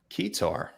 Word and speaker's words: keytar: No, it's like key and then guitar. Yeah, I think that's right. Sure. Let's go with it. Keytar.